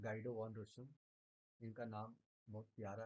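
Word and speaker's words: Guido van: गाइडो वन इनका नाम बहुत प्यारा है। याद रखिएगा गाइडो वन इसको हम वैसे प्रोनाउंस कर रहे हैं। आप लोग की इच्छा लोग श्रद्धा जैसे प्रोनाउंस कर लीजिए।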